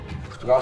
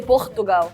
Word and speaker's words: Portugal: You say Portugal. You don't say the L, you say Gal, Portugal.